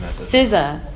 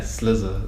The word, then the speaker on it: SZA: SZA. It's SZA. It's SZA. Because I thought she said Slizza. Sizzla? No, it's SZA. Yeah. I was like, who's Sizzla? I don't know. It's SZA.